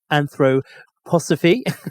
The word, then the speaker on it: anthroposophy: a philosopher he founded a movement called anthropo anthroposophy let's say it right um which is kind